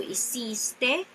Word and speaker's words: hiciste: to pronounce these words, the second to the last syllable is the stressed part of the word. Por ejemplo, yo hice, tú hiciste, él o ella hizo.